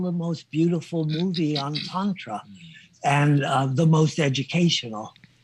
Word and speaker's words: Tantra: Tantra spelled like tantra but it's tantra.